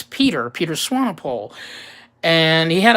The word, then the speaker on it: Pieter: I'd never seen before which I thought his name was pronounced Piper but actually again it's Peter Peters Swanepoel and he